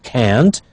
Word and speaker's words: can't: can't meet you tomorrow notice when it's negative it is stressed we hear can't but in when it's